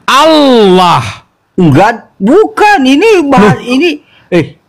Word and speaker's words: Allah: dua loh itu ya Allah l-nya dua berarti l-nya ditekan Allah Enggak bukan ini ini